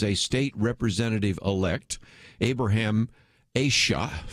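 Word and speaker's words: Aiyash: state representative elect abraham asha i think is how you say i yash i yeah she probably is better way to say it in which he actually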